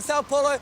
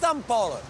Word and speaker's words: São Paulo: Looks like Sao Paulo, but it's pronounced São Paulo.